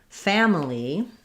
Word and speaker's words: family: We have first syllable stress and the clear a vowel, family. And that one you want to have kind of more of an a sound, like in fat or cat, family, or family.